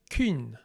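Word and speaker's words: cyn: Essentially what you do is you take the E vowel, E, and you round your lips. Ü, Ü.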